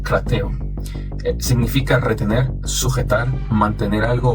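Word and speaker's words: κρατέω: Esa palabra se pronuncia algo así como krateo.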